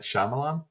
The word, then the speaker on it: Shyamalan: I hope I don't butcher's name M Night Shyamalan you said it right you did you did